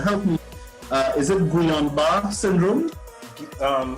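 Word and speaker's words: Guillain-Barré: me uh is it guillain-barre syndrome um some people pronounce it gillian barry which is like the english pronunciation or some people don't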